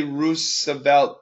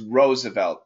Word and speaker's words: Roosevelt: Now, lots of people, yes, we see 2 O's, so we want to say Roosevelt, but actually the pronunciation is Roosevelt.